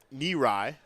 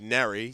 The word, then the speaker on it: Nerai: Almost said Neri, simply because that's what the PA announcer's been saying all night, and that pronunciation has somehow managed to worm its way into my brain, despite quite knowing the opposite.